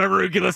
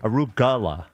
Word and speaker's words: arugula: I say arugula. Yeah, that's not how you say it. Really? Yeah. How do you supposed to say it? Arugala.